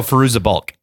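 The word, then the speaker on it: Fairuza Balk: to be in the craft and waterboy oh firoozeh bulk firoozeh bulk that's how you say I've been mispronouncing that name for decades but they come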